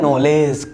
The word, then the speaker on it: knowledge: So English words में जी से पहले डी आने पर डी हो जाता है साइलेंट, राइट.